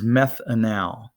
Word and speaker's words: methanal: methanol methanol please don't pronounce it the way it's spelled this is methanal and what we have is is a carbon